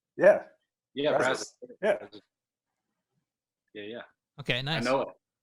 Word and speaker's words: Brazos: What, like, Brazos? Yeah. Yeah, Brazos.